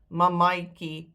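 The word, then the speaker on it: mammatjie: That last A is pronounced I. Mamaitjie, papaitjie when you say them, but not in the case of the accented ones.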